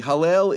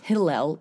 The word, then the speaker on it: Hallel: what is hello okay Hallel is a Jewish prayer of thank you it's not Hillel it's Halle like hallelujah hallelujah okay okay we say